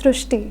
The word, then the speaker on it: Srushti: We have heard of Srishti, but this is a very unique name, Srishti. So in Marathi, the word "ri" is pronounced as "ru," so that is why the pronunciation goes Srishti.